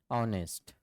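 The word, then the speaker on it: honest: an owner an honour तो यह शब्द से पहले हम क्या कर रहे हैं यह साइलेंट है एच आवाज उसके बाद है भी वोवेल्स और आवाज भी वोवेल्स की है अब कुछ ऐसे वर्ड्स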